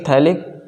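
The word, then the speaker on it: phthalic: ये थैल्डिहाइड था, ये क्या होगा आपका, थैलिक एसिड, तो PH आपका साइलेंट, THALIC थैलिक एसिड, ठीक है।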